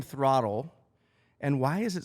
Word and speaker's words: throtl: So we went on voice to text and we started removing letters but we still wanted it to phonetically sound like throttle. So we removed the E and it still sound like throttle.